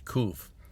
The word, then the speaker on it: Qof: the way it was spelled in one of them is k-o-o-o-f yeah just like roof you know roof cool and sometimes spell like k-u-s spell q-u-f but you know when you're trying to write a hebrew word or letter in english letter you just use letters that make it sound as much you can't like it yeah the word is koof but that means that's